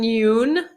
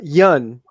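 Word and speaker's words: Yeun: a lot of steve steven yoon you am i saying it right yoon uh yun yun okay thank you i was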